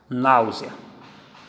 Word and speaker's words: náusea: Náusea, semivogal I mais vogal A. Está escrito E, mas se pronuncia I.